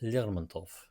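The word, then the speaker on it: Lermontov: Probably my favorite author is a poet uh a Russian poet named Michael Lermantov who if you use the um Russian pronunciation, Mikail Lurmanto, if you will.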